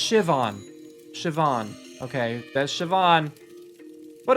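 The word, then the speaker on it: Siobhan: Shoban? What? Oh, it's pronounced Shivon.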